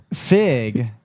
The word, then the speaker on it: Frigg: Fig and there is an R in there, but I don't hear him pronounce it.